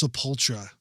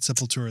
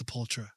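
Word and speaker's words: Sepultura: I remember people like, "No, it's Sopultra, bro. It's not Seleura. It's Sopultra."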